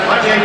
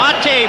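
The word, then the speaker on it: Matej: Penalty to Slovakia's number 29, Mate Bukna, 2 minutes for holding. Time of the penalty, 1:59. Mate Bukna, and I called him Joseph.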